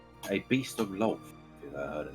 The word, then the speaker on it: Lolth: I keep hearing it as love, and I'm just like, Evelyn has never heard of Yeah. love. This is so sad. It's probably my pronunciation of it. It's a bit weird. Lolth. Lolth. I don't think it's your pronunciation. I think that's just how it is pronounced, and it's just a weird word.